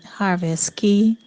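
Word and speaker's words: Harvest Caye: day and in between harvest k or have a ski depending on how you say it and orcharus we will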